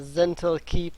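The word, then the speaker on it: Zhentil Keep: The beast escaped, wreaking great havoc among both the whatever keep that is, because I do not know how to pronounce that. It's Zental Keep and Hillsfire forces.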